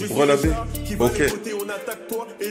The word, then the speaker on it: BR LA B: Brelabé, donc ça se prononce Brelabé.